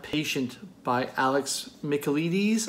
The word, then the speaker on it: Michaelides: silent patient by Alex Michael Eady's I'm guessing that's pronounced Greek name but with Michael in front of it the silent patient